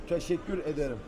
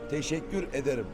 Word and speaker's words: Teşekkür ederim: Teşekkür ederim. Teşekkür ederim.